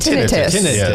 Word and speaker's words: tinnitus: Tinnitus. Or tinnitus. Either one.